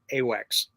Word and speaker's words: AWACS: How would you pronounce the acronym? AWACS.